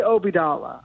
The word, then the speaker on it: Obeidallah: people pronounce it because people have spun it so many different ways from i say obidala i was just on my friend rasheed show he obey donald i was on my